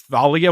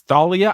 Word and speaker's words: Thalia: for this thalia it's thalia i think that's also the more greek way to say it apologies to anyone out